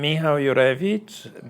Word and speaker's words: Michal Jurewicz: I don't hurt your name yes hello I'm Mi Urich designer and founder of my nice nicely done